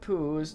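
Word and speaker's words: poes: nice thank you Satan whose is Dutch for cat and you want to say it like poos I'm not a city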